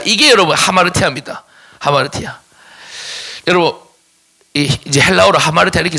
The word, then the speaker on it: ἁμαρτία: 알파의 위에다가 여기 붙으면 히 발음이 되거든요. 그래서 하마르티아라고 있습니다.